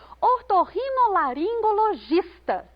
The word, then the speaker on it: ortorrinolaringologista: Ortorrinolaringologista. O gis é a sílaba tônica.